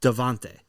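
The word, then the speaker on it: Davante: spell his name he spelled it but it's pronounced devante okay but it's spelled devinte d-a-v-a that's how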